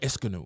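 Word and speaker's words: Ionescu: got to learn these girls names you keep mispronouncing the names you keep calling Cooper copper you keep calling copper Cooper it's Sabrina esanu you got to learn the names it's like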